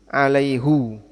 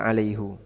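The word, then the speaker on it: عَلَيْهُ: ilaihu Alaihi alai Hi Nah tapi di ayat ini dibaca apa alaihu Kenapa dibaca alaihu Ini pernah jadi diskusi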